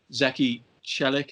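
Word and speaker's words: Zeki Çelik: on uh rumored target zeki shellick is i think how we pronounce that we've decided to pronounce it i'm joined by jeremy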